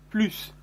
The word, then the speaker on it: plus: aussi fait attention remarquez on ne prononce pas le s de plus plus pl us pour les